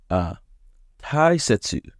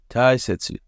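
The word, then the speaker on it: 大切: Since Tai has 2 onyomi readings, here's a mnemonic to help you remember which one to use. It's extremely important to keep your ties in sets. Taisetsu.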